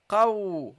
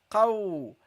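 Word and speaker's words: ق: Then you got the qaf, guys, the qaf, okay, the qaf, qaw, okay, repeat after me, guys, qaw, okay, this is how you pronounce it.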